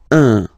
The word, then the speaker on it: un: without any doubt, but you've got to pronounce it like un. So it's what we call the nasal, so it goes in your nose, okay? So if you listen to me, you don't hear any N, okay?